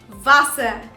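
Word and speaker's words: Wasser: time out so the next word the pronunciation for it is vasa vasa and vasa in english means water water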